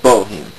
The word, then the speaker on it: BOH3M3: That's pronounced Boheme.